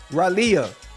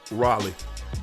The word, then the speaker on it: Raleigh: You mean Raleigh? Raleia. Oh, okay. Close enough. That's how you say it. How you say it again? Raleigh. You for real? Yeah. But it's spelled R A L E I G H.